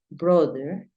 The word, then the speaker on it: brother: es más masculino decimos brother no es usual decir brother Es mejor decir Brother brother Acuérdate que la th tiene como un cambio entonces no es brother no sino es Brother brother Después te enseño